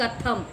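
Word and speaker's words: कथम्: कथम, कथम, कथम दिया हुआ है, वह अह का उच्चारण नहीं है, सिर्फ कथम।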